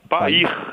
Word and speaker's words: PAIR: Como é que se pronuncia o nome do programa, Alexandre? PAIR. PAIR mesmo, né?